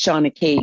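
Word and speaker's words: seanchaí: I might not be pronouncing it properly, but it looks like you've spelt Sean Choice, but it's Shana Key, which is the Gaelic for storytelling.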